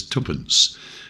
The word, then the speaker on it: tuppence: Two old pennies will be voiced as tuppence and a half penny would be pronounced as ha’penny .